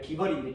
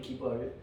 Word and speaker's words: 그발: 그발은 이제 히브리어로 이제 정확한 발음은 이제 기벌인데 기벌.